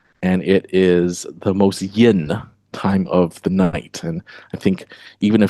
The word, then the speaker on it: yin: Uh or yin and yang if I pronounce it properly in Mandarin.